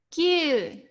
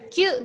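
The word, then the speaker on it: 九: Kalau sudah ada huruf vokal ada 2 dalam satu kata, ada huruf vokalnya itu 2, maka itu disebut dengan vokal panjang. Jadi pengucapannya 2 kali vokal tersebut. Ini dalam bahasa Jepang. Karena kalau vokalnya 1, itu akan berarti berbeda. Kalau kalian bilangnya Q gitu aja, itu bukan 9 ya.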